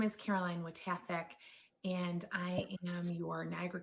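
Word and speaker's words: Wojtaszek: we're ready good evening my name is caroline watasek and i am your niagara county district attorney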